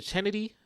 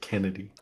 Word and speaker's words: Chennedy: of things happening man is it chennedy is that her name chennedy Carter or something like that she she ran I think they pronounced it Kennedy or Kennedy okay sorry for mispronouncing